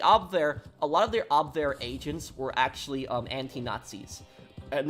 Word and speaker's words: Abwehr: The thing about Abwehr is, or Abwehr, I think that's how you pronounce it in German, Abwehr.